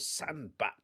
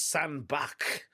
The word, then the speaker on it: Sandbach: And I thought it was Sandback. I don't know why I always call it sand back because it's spelled B A C H and to me that's back like as in your back which in a in another one I've hurt my back.